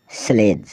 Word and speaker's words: sledge: फिर हम चलते हैं डी अल्फ़ाबेट की ओर जिसमें डी साइलेंट रहता है। BRIDGE ब्रिज, ब्रिज मतलब पुल। EDGE एज, एज मतलब किनारा। SLEDGE स्लेज, स्लेज मतलब बर्फ़ की गाड़ी।